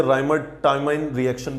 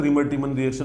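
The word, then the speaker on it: Reimer-Tiemann reaction: तो राइमर टाइमन रिएक्शन भी बोल सकते हैं, रिमर टीमन रिएक्शन भी बोल सकते हैं, दोनों अपनी प्रोनाउंसिएशन है, ठीक है।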